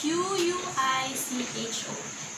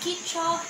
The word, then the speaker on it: Quicho: It is spelled as Q-U-I-C-H-O. It's Kicho, not Quicho.